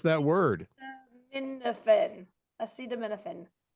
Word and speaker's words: acetaminophen: Acida menophen. Menophen. You have something in common with the president. You can't pronounce that word. Minophen. Acetaminophen.